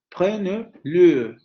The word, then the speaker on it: prenez-le: Entonces cambia a esta otra vocal para adquirir el acento. Prenez-le, prenez-le, prenez-le, con la vocal semicerrada anterior labializada.